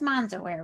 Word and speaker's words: MansaWear: Her mother's flair for color, quality fabrics, and tailoring have influenced MansaWear's structured silhouette, bright colors, and bold fabric prints. And it is MansaWear, right?